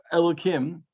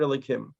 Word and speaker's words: Elokim: Here he tells us the word Elokim, Hashem's name, and now you say it with a kuf. Remember, it's spelled with a hey, really.